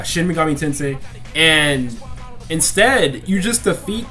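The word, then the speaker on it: Shin Megami Tensei: 5 Persona 5 Royal shim tensei shimi why did I pronounce it like that but anyway yeah shim Mami tensei and instead you just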